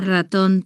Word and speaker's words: ratón: La palabra ratón tiene una R fuerte al inicio.